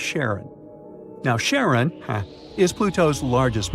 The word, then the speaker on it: Charon: the most mysterious one, Chiron, also pronounced Charon. So you can pronounce it however you like. I'm going to go with Charon.